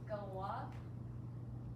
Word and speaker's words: Galois: This guy, that's not how his name is pronounced. It's pronounced Galois. Interesting. He was French.